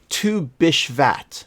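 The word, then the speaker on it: Tu BiShvat: uh in honor of forgive me i'm certainly pronouncing this horribly wrong uh in honor of tu bashaft which falls this year on the first day of global game jam create a game set in or around a tree interesting to bish vat okay uh that's let's uh that's apparently how it's pronounced um bishvat uh i'll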